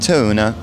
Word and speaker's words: Thune: farm in Norway was the Thune Farm, which is actually pronounced tuna.